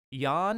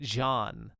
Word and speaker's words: Jan: of a faux pas I constantly pronounced the folklore's name as yeah not yawn but jean Harold Broadband um my apologies that's not how you pronounce his name but he has written